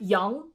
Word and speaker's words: Yang: These are not pronounced ang, but like Yang, Zhang, Kuang, Liang, Huang, Fang, Wang. Not Wang, Wang.